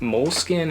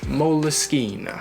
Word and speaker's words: Moleskine: and that is that moleskin is actually an italian brand or at least it's made in italy and it's actually pronounced moleskine can't get more italian than that at least that's what the